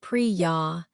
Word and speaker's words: Priya: You could say something like, "Hi, my name is Priya." That's P R I Y A. It's pronounced priy ya, but please call me pre if that's easier.